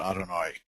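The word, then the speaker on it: אדני: how to pronounce and I probably should have pronounced it Adonai which is the convention but since we don't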